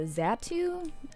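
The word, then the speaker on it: Xatu: process and the the zatu I think that's how you pronounce it x a t I never knew how to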